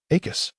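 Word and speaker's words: Accio: Akus. Note one. Akus. ensure that the final syllable is pronounced clearly and with a sharp emphasis once more. Akis Akus.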